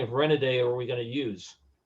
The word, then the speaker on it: Renaday: Because his real name is Renoudet. So, but nobody knew how to pronounce it, so he came up with a different spelling of it that looks like it sounds.